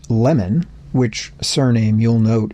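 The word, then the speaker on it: Lamon: Lemon, which surname you'll note is said to be pronounced with a short e sound even though it's spelled with an a, published a biography of Lincoln in 1872.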